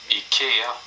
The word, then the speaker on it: IKEA: This is how you pronounce IKEA in Swedish. IKEA.